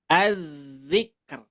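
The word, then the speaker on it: الذكر: Az-zikr. R-nya kebaca. K kebaca, R juga kebaca.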